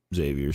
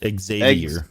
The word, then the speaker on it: Xavier: You're saying it wrong. It's Xavier. Xavier. It may have just gone. Now we're going back to the fucking TV. It's like XZAYVIER.